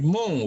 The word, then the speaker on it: mho: OHM, dibaca dari belakang apa jadinya? Oh, Ya kalau di belakang, dibaca dari belakang, ya kita bacanya namanya menjadi mho gitu ya. Mho, MHO, mho.